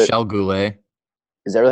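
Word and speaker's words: Michel Goulet: Chris Chelios, Jim Cummins, Tony Esposito, Doug Gilmore, Michael Goulet. Michelle Goulet.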